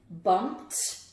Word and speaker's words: bumped: Which version of the ED ending do you hear? Bumped, bumped, or bumped? Bumped. Where can I fit it? Well, that's another one for the T category, bumped.